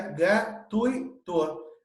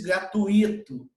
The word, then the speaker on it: gratuito: E, logicamente, que na palavra gratuito, se pronuncia gratuito. Não existe gratuito. Não tem um hiato aí nesse I.